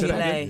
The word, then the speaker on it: gilet: gilet. Your body warmer. They spell it Gillette, but it's It's gilet.